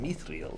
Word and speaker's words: mithril: Mithril.